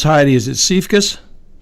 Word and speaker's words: Siefkas: traumas Heidi I should have really gotten the pronunciation of your name first I know it's heidi is it safe kiss correct I got it look so Heidi were